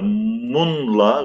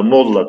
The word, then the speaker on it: molla: Evet arkadaşlar, munla veya mınla şeklinde eski telaffuzu, fakat Türkçedeki kullanımı molla diyoruz arkadaşlar.